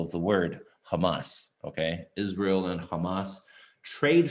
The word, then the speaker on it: Hamas: and that's emphasize on the last syllable of the word hamas okay israel and hamas trade fire traded that's